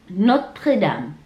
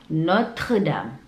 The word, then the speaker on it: Notre-Dame: La Tour Eiffel, la Tour Eiffel, la Tour Eiffel, les Champs-Élysées, les Champs-Élysées, les Champs-Élysées, l'Arc de Triomphe, l'Arc de Triomphe, Notre-Dame, Notre-Dame, Notre-Dame, le musée du Louvre, le musée du Louvre,